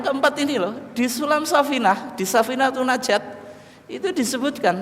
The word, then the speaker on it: Safinah: Nih, orang Jawa itu bacanya Supinah, bukan apa? Safinah.